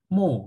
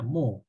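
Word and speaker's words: mho: arus listrik satuan konduktansi adalah mo ya Om di eja Terbalik ini bacanya mo tapi biasanya menggunakan satuan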